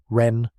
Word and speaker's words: Ren: Malone ren pronunciation ren like pen and durant pronunciation durant